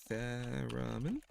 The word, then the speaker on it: theremin: The Owen Guns, what's really cool about the Owen Guns is that the lead singer plays the theremin. I think that's how you pronounce it. Is it theremin?